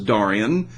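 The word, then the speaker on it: Darian: do have a cyclone I guess you would pronounce that Dorian d-a-r-i-a-n no it's not Dorian and it's not misspelled it is Dorian in the southern hemisphere it is forecast to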